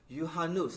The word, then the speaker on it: Juhannus: telethon is to celebrate you hanus did i say it right you sure did yuhanos johannes is a festival